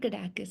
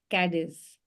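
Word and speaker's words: Cádiz: it but uh Kus it's not kakis it's c a d i z cadis cadis cadis okay we'll see why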